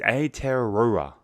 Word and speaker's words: Aotearoa: speak any Maori so I believe the pronunciation is a Terraria now that's probably terrible